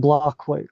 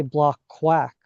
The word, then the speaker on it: BlockQuake: So uh, backstory with our name, like it's pronounced BlockQuake, blockchain earthquake, right? That was how we came up with the name, but folks often mispronounce it and they say block quack often, like quack like a duck.